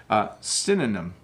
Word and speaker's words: synonym: synonym thanks a million synonym so synonym it's hard to say isn't it so synonym there you go as opposed to cinnamon which is a spice let me do one